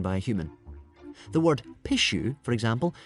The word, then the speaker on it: pishu: The word pishu, for example, is pronounced very like a sneeze.